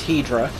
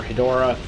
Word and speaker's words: Hedorah: in 60 seconds that's Hedra oh okay or I know that I'm technically pronouncing that wrong but so most people will you know known by the actual currency a shin Hydra or Hedorah but because I grew